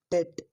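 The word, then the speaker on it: debt: अगला शब्द है हमारा डेट, डेट। इसमें बी जो है दोस्तों ये साइलेंट रहता है, इसे डेप्ट ना पढ़ के डेट पढ़ते हैं, डेट, डेट, ए, डेट, डी, डेट, डेट, डेट।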